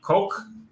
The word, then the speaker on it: Koch: Koch. I'm sorry, I think it's pronounced Cock, actually.